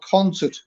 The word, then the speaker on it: Consett: No, we live in a town called Concert. Concert? Yeah, that's spelled CONSETT.